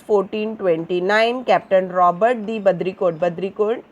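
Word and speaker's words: Baudricourt: Badricourt is again a French pronunciation.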